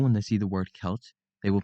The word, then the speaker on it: Celt: will pronounce it as selt due to the word looking like it has a soft sea it is actually pronounced as kelt because the C is pronounced as a k sound another common error when